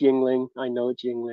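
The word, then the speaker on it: Yuengling: Cracking a youngling. Young is my Yes, favorite. I know it's Yingling. If anybody's watched my show over the past couple of weeks, So, I know it's Yingling. I pronounce it Youngling.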